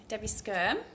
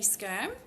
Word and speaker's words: Skyrme: Right, well, I'm Skyrme. Yes, funny name, but that's how you pronounce it. Skyrme.